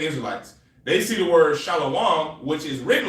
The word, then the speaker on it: shalom: You see in that word and you say shalawam. It's just shalom.